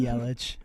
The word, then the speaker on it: Yelich: It depends who you ask, but it could be Yelich, it could be Yelich.